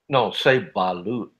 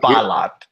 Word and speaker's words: balut: Say balut. Balut. Say it right. Balut. It's not balat.